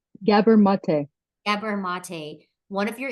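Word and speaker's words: Gabor Maté: The Myth of normal by how do you pronounce the author's name gabber mate gabber mate one of your influential reads so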